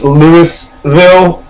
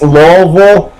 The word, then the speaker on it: Louisville: we don't say it's Lewisville we don't say it's Louisville where you say it's laille you just uh just